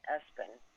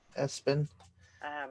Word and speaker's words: ESPN: They pronounced it Espen. Espen.